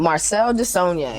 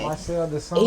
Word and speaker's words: Marcel Desaulniers: Marcel Desaulniers. Marcel Desaulniers.